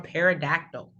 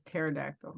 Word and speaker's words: pterodactyl: I think it's pterodactyl. I think the pterodactyl. That's what I said. You said pterodactyl. Well, because it had a P. Because I think the P is silent.